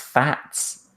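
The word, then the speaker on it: FAZZ: excuse me the fat apparently how you pronounce it yes pronounced fats oh no sharp Zi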